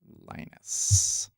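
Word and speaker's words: Lynas: Linus.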